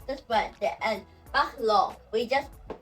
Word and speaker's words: baccalauréat: Baccalauréat. Baccalauréat, which means speak here. And you can see here, baccalauréat. We do not pronounce the t t t in the end.